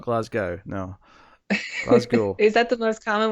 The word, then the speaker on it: Glasgow: Which, credit to Rod Serling, he said it multiple times, and he pronounced it correctly every time. So Glasgow, yes. Not Glasgow. Not Glasgow. No. Glasgow.